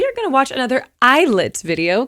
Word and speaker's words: ILLIT: Okay, I understand that I said Illet to be real. I didn't know how to pronounce it, but you guys have told me in the comments.